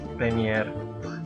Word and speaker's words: premier: bilang r mer PS premier eh TR. Tapi eh memang kalau lebih baik kita mengikuti cara pengucapan dalam bahasa Prancis yaitu dengan menggetarkan tenggorokan.